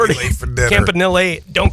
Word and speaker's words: Campanile: In Italian, it's Campanile, but but everybody says Campanelli, so, I just roll with the punches, whatever.